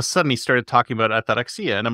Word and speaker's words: ataraxia: Ataraxia. That's right. Ataraxia.